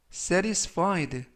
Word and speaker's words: satisfied: 이번 표현은 satisfied satisfied safed라고 발음하시면 되겠고요 중간 부분에 있는 알파벳 티가 트 발음이 아니라 부드럽게 르 르 그래서 safed라고 발음하시면 좋겠습니다 품사는 형용사 뜻은 만족한이라는 뜻을